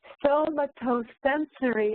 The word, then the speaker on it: somatosensory: Somatosensory activity, sounds like tomato sensory activity, it helps almost reboot your brain.